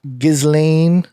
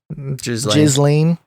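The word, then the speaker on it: Ghislaine: a very peculiar person you know that lady gizlane is that how you say her name what was the way you say it maxwell jizzling yeah her little prison that she's staying at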